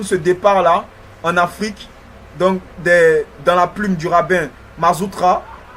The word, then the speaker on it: Dan: Nord, qui est aujourd'hui dans notre pays, en Côte d'Ivoire, qui se fait appeler aujourd'hui les Dans, qui est une mauvaise prononciation de son nom véritable, qui est Dan.